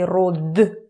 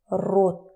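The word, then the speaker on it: род: We don't say rod, we say rot.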